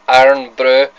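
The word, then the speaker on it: Irn-Bru: That's how we pronounce it, iron brew.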